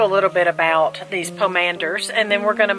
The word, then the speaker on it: pomander: Pomander, like commander, but Pomander. pomander.